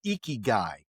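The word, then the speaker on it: ikigai: It is called eeky guy and it is spelled y i k i g ai.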